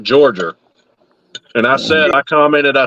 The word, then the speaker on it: Georgia: Fred commented on one of Jeff's posts the other day, and he said, remember when you get here that it's pronounced Georgia, not Georgia.